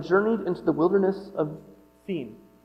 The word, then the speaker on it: Sin: from Elum and journeyed Into the Wilderness of seen pronounced seen apparently between Elum and Mount Si this is